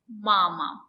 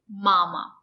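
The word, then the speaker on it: мама: at some two-syllable words the stresses on the first syllable mama mama mama it's a two-syllable word mama the stress is on the first syllable mama the letter a makes an open sound ah mama the second syllable is not stressed the letter a makes a closed sound and it's short mama papa papa papa baba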